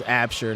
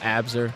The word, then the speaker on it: Absher: Apparently I pronounced somebody's last name wrong, and I was told by an athlete's mother that their last name is Absher, not Abzer.